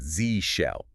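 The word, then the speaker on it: zsh: And if you're using the just shell environment, the correct way to say it is Z shell or Zid shell.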